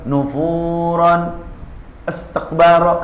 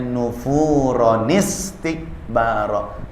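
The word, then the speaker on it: نُفُورًا اسْتِكْبَارًا: Nah, ini ketika baca Quran tiba-tiba nufuron istaqbaro kan salah. Supaya kita benar, bagaimana caranya? Dibacanya nufuronistikbaro. Tambahkan nun di bawahnya.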